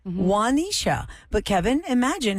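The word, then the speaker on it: Juanisha: i s h a how do y'all say that how do it correct wanisha but Kevin imagine how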